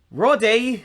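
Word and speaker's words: Roddy: Rode. Rode. Rode. That's how they pronounce it.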